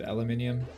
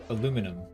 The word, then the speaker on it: aluminium: I don't know why I said aluminium. It's always in the US it's always pronounced aluminum, but I probably sound smarter saying aluminium. So maybe I'll keep doing that.